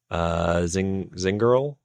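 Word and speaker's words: Zingerle: And Linda Zingerl. Probably, how do you pronounce that? Zingerli?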